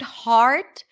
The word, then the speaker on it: heart: her her hurt hurt in for the word heart we drop the jaw it's a full on a sound there is a pure vowel there heart give me your heart